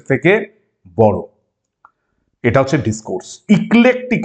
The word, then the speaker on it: eclectic: ইক্লেকটিক approach, ইলেকট্রিক নয়, এটা অনেকে প্রথমে উচ্চারণ করে ইলেকট্রিক, এটা ইক্লেকটিক অ্যাপ্রোচ অ্যালাউজ দ্য ল্যাঙ্গুয়েজ